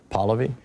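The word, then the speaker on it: Pahlavi: Palavi. Am I pronouncing it correctly? Palvy.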